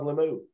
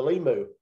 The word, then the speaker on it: Limu: how much I love lamoux and uh if you got me saying Todd I said it wrong that time uh the Limu and how much I